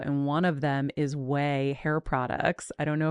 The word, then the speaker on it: OUAI: pronounced Way.